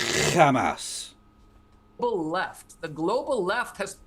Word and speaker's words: Hamas: Pronounce it correctly, it's Hamas.